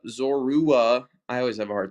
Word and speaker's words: Zorua: Not Zora. Zora. Zorua.